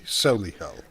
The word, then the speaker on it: Solihull: You have to pronounce it properly. Solihull. Oh, Solihull, right.